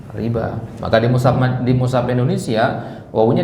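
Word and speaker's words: الربا: Nah, tulisannya pakai wawu kan? Tapi bacanya gimana? Panjang, riba.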